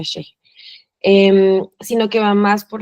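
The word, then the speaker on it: ch'ixi: Recordé la noción de Silvia Rivera Cosicán, que es lo Shikse, em, pero en realidad es que se pronuncia Sheje, pero bueno, se escribe Shiksi, se pronuncia Sheje.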